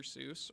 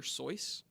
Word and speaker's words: Seuss: Seuss, or at least it wasn't pronounced like it. It was pronounced Dr. Seuss, which is a German pronunciation, and it's just a fun little fact about him.